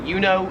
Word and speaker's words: Uno: In America, we pronounce it Uno. It's kind of like the emu one. Uno. Here it is more pronounced like youo.